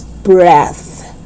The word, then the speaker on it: breath: okay let's check yes the first one is voiceless so you pronounce it as breath breath and the second